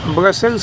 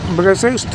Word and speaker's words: ब्रुसेल्स: Belgium की राजधानी ब्रसेल्स होगी। ब्रसेल्स थोड़ा यहाँ स्पेलिंग गलत है, तो ब्रसेल्स नहीं होता है, ये ब्रुसेल्स होता है।